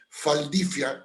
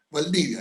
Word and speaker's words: Valdivia: porque la B corta, la V se pronuncia como F, por eso los alemanes dicen Faldifia en vez de Valdivia, ¿no?